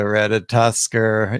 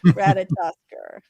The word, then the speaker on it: Ratatoskr: Ratatoskr, right? I was like, the beginning of the word reminded me of the word potato. So say it again, Ratatoskr.